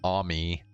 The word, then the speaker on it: Amy: Interesting that over or in Japan they call it they pronounce it Ami instead of Amy.